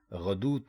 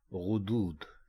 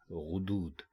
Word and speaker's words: غدود: بولتے یا لکھتے ہیں، غدود کہتے ہیں. جبکہ درست لفظ ہے غدود. یعنی آپ جب اس کو لکھیں گے یا بولیں گے تو غین کے اوپر بھی پیش لگائیں گے اور دال کے اوپر بھی پیش لگائیں گے.